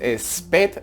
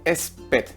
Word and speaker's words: spät: La cuarta palabra tenemos es spät. Recordar que la A con los dos puntitos es una E, se pronuncia una E. Entonces spät, que significa tarde.